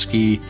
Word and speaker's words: SCI: with scientific computing and imaging which we pronounced ski.